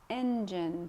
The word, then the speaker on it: engine: Engine. So the pronunciation of this word, engine. Engine. Stresses at the beginning.